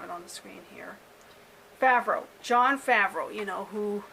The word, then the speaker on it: Favreau: reading the title but i don't want to mispronounce his name really bad so i'm going to have it on the screen here favreau john favreau you know who plays happy in